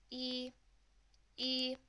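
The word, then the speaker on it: 一: line like so and to pronounce this one it's like the English alphabet letter e and you're going to use the first flat tone to say it and it sounds something like this e e so if you want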